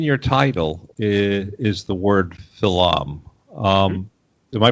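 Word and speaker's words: Philom.: products Peter in your title is the word Phil um am i pronouncing that correctly yes it's it's it's Phil um ph IL om period Phil um it's an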